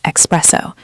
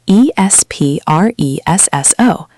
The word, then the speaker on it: espresso: Pronouncing espresso as expresso. There is no x in espresso. It is e s p r e s s o, espresso. Not expresso.